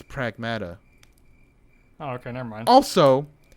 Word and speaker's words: Pragmata: I think it's pronounced. Pragmata. It's not Pragmata. It's Paragmata. Pragmata. Paragmata. It's Pragmata.